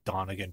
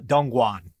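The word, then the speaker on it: Dongguan: Oh what's I mispronounce I said Donegan for some reason it's dumb guan my mistake by that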